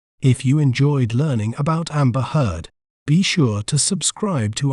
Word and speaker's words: Amber Heard: We may pronounce it as Amber Heard. Amber Heard.